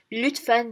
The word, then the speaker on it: lütfen: pronunciation of the letters, especially the new ones like the chai, che, and lütfen, the ü.